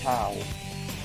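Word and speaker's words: Chao: It's actually pronounced chow, since the origin of the word comes from the Italian word ciao, which is how you say hello in Italian.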